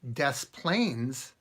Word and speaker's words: Des Plaines: French apparently right now if you say des Plaines Illinois you pronounce the S both in deaths and plains I don't get it